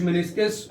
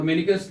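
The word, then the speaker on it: meniscus: इसको कुछ मेनिस्कस और मेनिकस दोनों तरह से प्रोनाउंस करते हैं।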